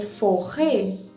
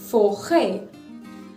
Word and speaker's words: forêt: Now when it comes to the letter E, it is pronounced as A. For example, forêt, F-O-R-E with circumflex, T, forêt.